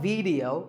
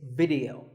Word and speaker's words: video: watching right now video the important thing is that both the I and the e are pronounced as short if sounds it's not video it's video if you watch a